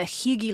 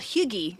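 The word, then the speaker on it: hygge: Because they live the Higgy lifestyle, which means the cozy.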